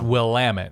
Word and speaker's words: Willamette: It's Willamette, yeah.